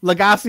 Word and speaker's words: LaGasse: LaGasse is correct, but I'll answer to about five or six pronunciations.